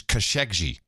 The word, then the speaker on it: Khashoggi: I like it too, but our dude named Muhammad did send me a note and said the official pronunciation is Khashoggi.